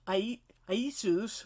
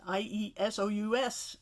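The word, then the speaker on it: Ἰησοῦς: And you'll notice in the Greek text, the name for Joshua is Iesus, or Jesus, more like the Y sound, exactly the same as it's spelled and probably pronounced in the New Testament for Jesus.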